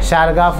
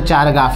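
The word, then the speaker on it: Chargaff: शारगाफ rule. क्या था? शारगाफ rule. समझ गए? हाँ, शारगाफ रूल, नॉट शारगाफ रूल। अब बोलना सर ये तो चारगाफ है, उसे प्रोनाउंस करते हैं शारगाफ है।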